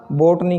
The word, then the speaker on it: botane: किसको बोटनी बोलेंगे? बोटनी। इसको बोलेंगे बोटने।